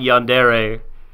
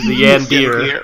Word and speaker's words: yandere: I was mispronouncing Yandere and said the Yandir.